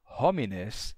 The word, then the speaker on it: hominem: h é mudo né o h é mudo você vai dizer uma palavra como pessoas você que é que seria homines e você pronuncia homines ou essa pessoa no acusativo singular que seria hominem se pronuncia como homin só que eu tenho